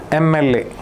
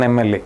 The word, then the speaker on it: MLA: Because although M is a consonant, okay, you are uh when you pronounce MLA, it makes a sound, right? E sound. MLA. So M uh that it starts with a vowel sound.